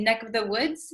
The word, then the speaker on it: neck of the woods: neck of the woods, usually this of the V sound kind of disappears because V's are hard to pronounce. So we tend to say neck of the woods. Neck. This of becomes just the vowel sound.